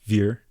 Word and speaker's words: vier: Spelled with a V, but more of an F sound.